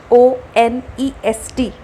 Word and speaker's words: honest: The word honest, look at it carefully, Honest. The first letter is H, but we pronounce it as honest.